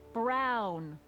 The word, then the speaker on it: Brown: bill to a tee that's Emmett Brown rhymes with clown which I'm beginning to